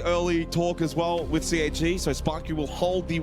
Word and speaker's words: CAG: CAG. Because it rhymes with gag.